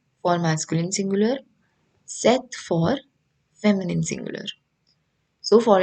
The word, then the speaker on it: cet: adjective c e t which is pronounced as set only the same way as you pronounce this one but what is the